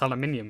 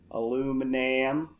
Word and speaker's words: aluminium: We can pronounce aluminium, whereas you can't. But you do call it spring. Aluminum. That's not even correct for America.